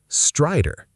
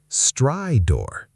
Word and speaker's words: stridor: Word 7, stridor. Strong first syllable, the second almost disappears. Stridor. Stridor. Stridor. On auscultation, inspiratory stridor was noted.